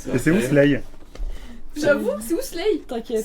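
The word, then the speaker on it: Slae: Voilà, ça se prononce Slay, mais ça s'écrit S-L-A-E.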